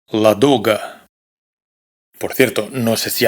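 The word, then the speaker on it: Ладога: Esto que es el nombre de un famoso lago, no se pronuncia la doga, sino la duga.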